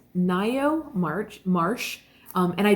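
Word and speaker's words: Ngaio: I'd never read her stuff um so it's Nao March Marsh um and I did find out that is how you pronounce it it's n g a i o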